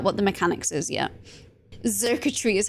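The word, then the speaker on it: Xurkitree: Zirketry is how you pronounce it.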